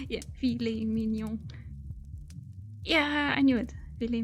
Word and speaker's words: filet mignon: I was poking at his pronunciation. Yeah, filet mignon.